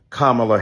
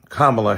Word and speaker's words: Kamala: The other night, Keith Boykin and I were on CNN trying to be respectful to the Congresswoman who insisted upon mispronouncing Kamala Harris.